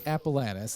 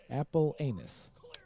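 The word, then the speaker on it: Apellanes: appalannis is what is it sounds like phonetically it's appalanus it's called a-p-e-l-l-a-n-e-s no no no no no no a handful of times teachers and stuff first day of school whatever whatever apple anus oh no apple lameness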